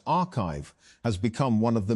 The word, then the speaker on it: arXiv: Although papers are posted to the site before they are peer reviewed, arXiv, pronounced archive, has become one of the main ways that